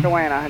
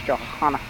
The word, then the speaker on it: Johanna: Yeah, it's Johanna. Johanna. Not Joanna. It's Johanna. Uh, fine minerals, fine herbs.